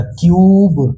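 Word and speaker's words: cube: तो यहां पे सी का उच्चारण क से और यू का उच्चारण य मतलब यू का यू का यू ही बोलेंगे।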